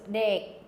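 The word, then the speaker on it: ដេក: No, the K is not even pronounced. So dek, bon top dek would be bedroom.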